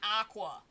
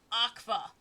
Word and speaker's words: Akva: His first name is not Aqua. It's Akva. Akva. With a V. His name is Akva Silu, not Aqua. I've tried to write it out, but I don't know if the pronunciation got across. So when Symphonia calls him by first name, he's not saying Aqua. He's saying Akva.